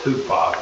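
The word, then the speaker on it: hupo: It's actually pronounced hupa because it's got a rough breathing sound, which makes an H sound, but it's spelled U-P-O, or Upsilon P.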